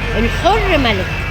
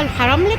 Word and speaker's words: الحرملك: بصوا احنا في محل الحر ملك. ماشي، هي في ناس بتنطقها الحرملك، بس هو المعروف بيه الحر ملك.